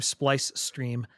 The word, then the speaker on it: Splice Stream: But no, other than that, you can find me on YouTube, Twitch, Kick under the name Splice Stream. Rhymes with ice cream.